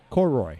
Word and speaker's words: Koroyd: Koroyd. Koroyd.